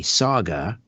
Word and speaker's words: Sauga: 60 am dot ca saga as in mississauga is spelled s-a-u-g-a s-a-u-g-a s-a-u-g-a saga 9 60 am